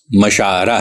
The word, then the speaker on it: مشاعرہ: گئے ہیں، جیسے مشاعرہ، یہ لفظ مشاعرہ ہے، آئین پر زبر کے ساتھ، مفعلہ کے وزن پہ، لیکن اسے مشاعرہ کوئی نہیں کہتا، مشاعرہ زیر کے ساتھ مجہول کر کے